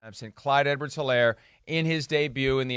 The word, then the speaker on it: Edwards-Helaire: So it's, by the way, it's Clyde Edwards-Helaire. No H. H is silent, something we're all learning now, especially those of us that didn't watch a whole lot of college football last year. Clyde Edwards-Helaire.